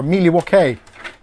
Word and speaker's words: Milwaukee: ARS from cargo or Milwaukee yeah or miluk as it's pronounced by the uh Indians I watched we ways